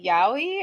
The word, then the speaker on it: yaoi: So but you were yeah, using that how is it yaoi? Is that how you yeah, pronounce it?